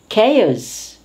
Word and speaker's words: chaos: it acquires the color of the environment chameleon chaos it's disorder chaos disorder in the environment machination